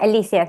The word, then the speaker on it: Alicia: Yeah, it's Alicia.